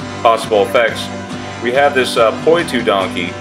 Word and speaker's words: Poitou: video three different possible effects we have this puu donkey it's spelled p o i t o u donkey